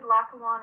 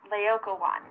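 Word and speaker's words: Laocoön: For our project, we did Lackawan and his sons. No, Megan, it's actually pronounced Laocoon. Oh, my bad. Laocoon and his sons.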